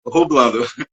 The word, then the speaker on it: Jublando: Se chama Rublando, só que assim, é um J, é tipo uma mistura do meu nome com a palavra dublando. Okay. Aí se escreve Jublando, mas se pronuncia Rublando.